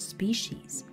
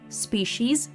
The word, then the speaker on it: species: We are a new intelligent species. Мы больше не машины. We are a new intelligent species. Мы новый разумный вид. Species, кстати, иногда еще читают species. Вариант такой тоже встречается произношение.